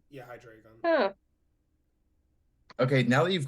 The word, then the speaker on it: Hydreigon: Hydra dragon? Close. Yeah, Okay, I if think I'm that's close. pronouncing Give it this to her. right, I think, yeah, if I pronounce this right, it's Hydragon. Yeah, Hydreigon.